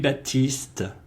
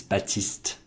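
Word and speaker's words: Baptiste: Baptist College so dude Baptista another one of these words in French when they don't pronounce all the letters is not Baptist is batiste Jeff it was a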